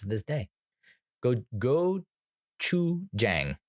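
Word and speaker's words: gochujang: pronounce it this day go go Chu Jang is how it if you were to sound it out you know because I'm working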